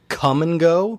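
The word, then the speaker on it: Kum & Go: of places like that called Come and Go, but they spell it K-U-M.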